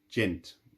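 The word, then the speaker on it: djent: a genre which is called gent which is actually spelled with a d d j e n t um but that gen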